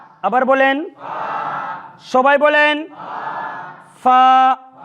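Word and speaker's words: ف: এই অক্ষরটি উচ্চারণে কোনো প্রকার জটিলতা নেই। আলিফ এর উচ্চারণ যেখানে গিয়ে শেষ, এই অক্ষরটির উচ্চারণ ওইখান থেকে শুরু। সূত্র অনুযায়ী এক আলিফ লম্বা, ঠিক এইভাবে ফা ফা ফা।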